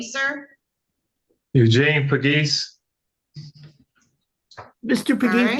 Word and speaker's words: Pegues: So you pronounce it Pegues, right? Pegues, yes.